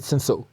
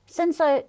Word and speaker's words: Cinsault: And especially, Cinsault, you don't even spell it like that. It should be S-I-N-S-O. The fact that it's spelled but it's C-I-N. Not Cinsault, S-A-U-L-T.